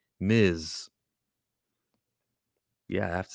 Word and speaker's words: Ms.: is not miss marvel m-i-s-s is how you spell miss ms period is how you say miz yeah i have to